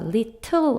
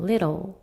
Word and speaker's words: little: T 같은 경우에는 미국식 영어에서는 좀 약하게 발음하는 게 있어서 little 안 하고 little이라고 발음하죠. little.